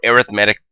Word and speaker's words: arithmetic: AR arithmetic sequence or arithmetic progression I know this word looks like arithmetic but when we talk in the context of a sequence we pronounce the word arithmetic a sequence in which